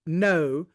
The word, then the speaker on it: Ngo: and straight some odd not days and nights of violence out there this is andy no it's spelled ngo but it's no he is a reporter